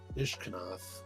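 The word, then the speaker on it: Ishkanah: I'm gonna do Ishkanth, or however you pronounce that. A sorcery. It's Ishkanath, an instant, and an artifact.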